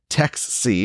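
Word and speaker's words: TXSE: the global stage well the Texas Stock Exchange or Tex C is how it's pronounced will be based in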